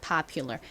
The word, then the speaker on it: popular: 발음이 파ular과 비슷하게 납니다. Popular 따라해 보세요.